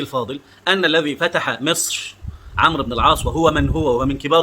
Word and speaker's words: عمرو: الغريب ده عمرو وده عمر، يعني حتى عمرو بتتنطق عين ميم ر بس بتكتب فيه واو كده.